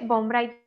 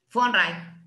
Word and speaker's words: von Wright: En los textos dice von Bright, pero si dice von Bright. Von Wright. Von Wright se pronuncia con Se F dice- de corta.